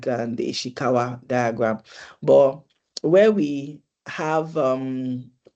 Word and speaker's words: Ishikawa: Did I pronounce that correctly? Oh, I was muted. I didn't realize I was muted. Ishikawa, yes.